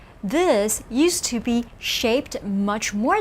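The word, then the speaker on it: 目: alternate form of character in a bit mu pronounce with me mu this means i in ancient days it was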